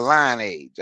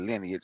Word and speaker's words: lineage: FBA say they are line age. I know people pronounce the lineage. I say line age cuz that's how I spell just for the hell of it.